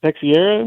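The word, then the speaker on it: Texeira: the years with Mark I always say his name wrong texier is that right yeah I believe that's correct yeah he's done they've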